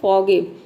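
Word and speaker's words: forgive: अब यहाँ पे भी देखिए OR साइलेंट है, यहाँ पे R को हम साउंड नहीं देते हैं, यानी कि र का साउंड नहीं देते हैं, इसको हम केवल प्रोनाउंस करते हैं फॉरगिव, ठीक है।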